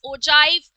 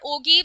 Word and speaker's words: ogive: You can pronounce it as ogive or ogive. So different people pronounce it in different manner, and it is also called as the cumulative frequency curve.